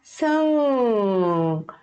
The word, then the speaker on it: 승객: Então, esses 받침 a gente não vai pronunciar, a gente vai só prender aqui na garganta, ok? Fica 승객, 승객.